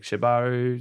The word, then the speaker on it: shibari: or like expand their knowledge and say like shibari?